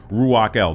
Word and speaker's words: Ruach-el: It would be pronounced originally Ruach-el.